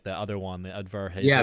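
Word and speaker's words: Udvar-Hazy: and Space Museum and then I'm probably gonna mispronounce it but like the other one the Advarhazy. Yeah the Varhazy. Verhazy.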